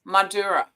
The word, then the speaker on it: Mandurah: Now, I think it's pronounced Mandurah. I got corrected last night.